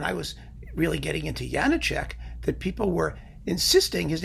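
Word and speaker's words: Janáček: was really getting into Janacek that people were insisting his name was Janacek. Why? Because there's an accent over the A, even though in Czech, first syllables are all supposed to be stressed.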